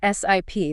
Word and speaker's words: SIP: that fit in right sip that stands for session initiation protocol and it's pronounced like you know like taking a sip of a drink got it not sip